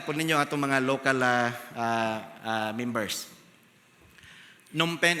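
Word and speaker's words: Phnom Penh: Nompen is the capital city. So thank you pastor boy sa pag-pronounce sa insakto ng pronunciation. Uh some people will read it pinals will read it and say it as a numpen. So silent PE.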